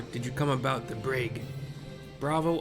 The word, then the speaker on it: Braegh: Or did you come about the brag? Bravo. R A E G H. Brag is what I'm pronouncing it.